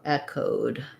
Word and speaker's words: echoed: So for echoed, we have the eh sound, first syllable stress, the O vowel, and then a D. So I would rewrite it like code or echoed.